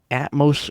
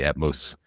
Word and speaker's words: Atmos: We're talking about Atmos Rewards. Is that the way to pronounce it? It is Atmos, the beginning of Atmosphere according to the I little spoiler, ladies and gentlemen.